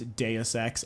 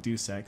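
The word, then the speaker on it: Deus Ex: uh dox I'm sorry I know it's deex I'm one of those guys that pronounces it duex so Dux Human Revolution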